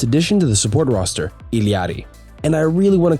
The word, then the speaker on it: Illari: with the newest addition to the support roster, Illari. And I really want to call her Larry, but for those who are still confused about it, so many people complained about the correct pronunciation, Illari, that I decided to call her Larry to